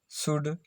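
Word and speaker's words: should: OU का उच्चारण ऊ, कुड, शुड, वुड, OU का उच्चारण कुड, शुड, वुड। L silent है, एल साइलेंट है, इसमें भी ये एल साइलेंट है।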